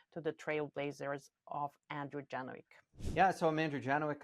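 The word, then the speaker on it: Janowczyk: I know, because I was pronouncing it in Polish, because it's a Polish last name, so it hurts me to pronounce it in English.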